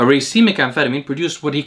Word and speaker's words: racemic: made the observation that a racemic which i didn't know how to pronounce until gorilla chemistry recently corrected me i used to call it a racemic a racemic amphetamine produced what he